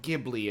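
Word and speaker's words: Ghibli: H actually when did jibli it's a jibli AMV by the way when did Studio jibli begin Chi or gibli as some people like to pronounce it June 15th well [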